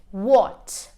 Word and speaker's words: what: two is silent h whenever we have w h the H always becomes silent few examples what what when when what white white can you hear the edge no because I'm not pronouncing the H I'm only pronouncing the W okay so now we're